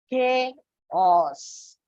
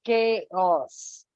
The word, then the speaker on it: chaos: say this is Charles but basically it is pronounced as chaos if you check the dictionary it will give the pronunciation as chaos so children English is not just reading and